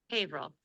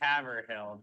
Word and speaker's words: Haverhill: Haverhill. I would say Haverhill, but by my knowledge of today, it's probably just pronounced hill.